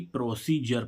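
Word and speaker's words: procedure: है पद्धति तो देखो यहां पर डी यू आरई आ रहा है तो इसको क्या पढ़ेंगे हम जर यानी कि प्रोसीजर प्रोसीजर मींस पद्धति आई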